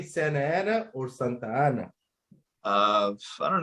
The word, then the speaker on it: Santa Ana: But Beto, it's Santana. Oh, there you go. I'm telling you, put some respect on it, okay? Oh, got him. Santa Ana, bro. Say it right. Santa Ana.